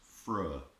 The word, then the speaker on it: Freur: Now this was actually the band name to start with, but this is actually pronounced Freur.